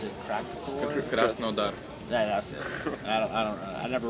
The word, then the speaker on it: Krasnodar: Petersburg and Moscow, and this time we have a 3rd show, which I really don't know how to pronounce it. Krasnodar.